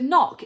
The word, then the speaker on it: knock: The word knock is spelt with a silent K at the beginning.